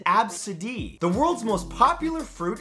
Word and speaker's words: Abcde: The name is pronounced absid.